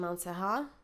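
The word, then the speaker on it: Mancera: goal is fig ecstasy by maner or in the French pronunciation manaha I guess sister brand of mantal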